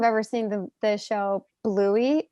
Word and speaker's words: Bluey: just so people know it's bluey like the color right like yeah you spell it it's b l u e y right because right first time i heard what it was called i thought it was louis anyway just wanted to